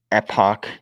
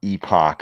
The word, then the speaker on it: epoch: My Linux neckbeard friends say epoch, not epoch. I don't know if you're going for the epic or the pock pronunciation in both of those, but I hear you. Okay. As in epic.